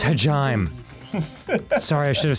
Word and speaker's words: Hajime: of yourself hajime you just progressed oh it's pronounced hajime sorry i should have said earlier show me